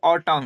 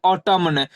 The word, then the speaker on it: autumn: तो इसे हम क्या पढ़ेंगे, ऑटम। इसे ये नहीं कि इसे हम पढ़ेंगे ऑटमन, यहाँ एन की ध्वनि नहीं निकालते हैं, क्योंकि एन साइलेंट है।